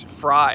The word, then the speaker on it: Fry: Frey in the house. It's Fry, actually. Fry.